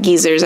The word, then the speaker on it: geysers: time getting past that geezers I didn't know that's how that was pronounced I've always pronounced it Geysers um what didn't he